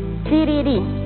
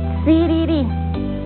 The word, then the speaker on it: siriri: Sur vamos a decir sururu y rojo siriri. Asimismo también podemos decir siriri. Escucha bien ese sonido. Y huichimal, escuchemos. Siriri.